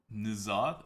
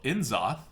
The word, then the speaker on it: N'Zoth: So I think it's N'Zoth. N'Zoth? N'Zoth? Yeah, N'Zoth. Okay, we're gonna call him N'Zoth. N'Zoth. I'm sure it's not pronounced N'Zoth, but we are going to go with that pronunciation.